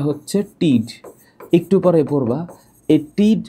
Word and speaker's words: tid: আরেকটা জিনিস আছে, টিড নামে একটা শব্দটা আছে, টিড, TID, উচ্চারণটা হচ্ছে টিড, একটু পরে পড়বা।